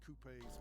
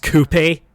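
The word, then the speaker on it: coupé: Italy Germany and England have produced premium performance Coupes possessing wait it's pronounced Coupe really I've been pronouncing it Coupe this whole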